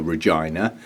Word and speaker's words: reginae: have a non-Latin name, so they stuck an E on the end to give it a Latin feel. So it's Victoria reginae.